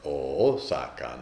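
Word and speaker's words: 逢坂: And the cool thing is it is also really loved because the missing syllable in the last line is pronounced in those days. That Osaka had a double O sound. So it's Osaka no seki.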